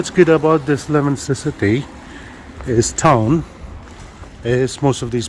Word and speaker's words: Leominster: It's spelled Leominster, Leominster, but it's called Leominster. That's what the locals call it, and that's how it should be called.